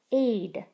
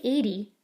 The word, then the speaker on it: aid: Aid. Don't say 80. The E is silent.